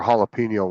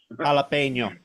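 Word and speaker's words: jalapeño: of silent letters and the J is pronounced as a h in it at the beginning uhhuh haino jalapeno maybe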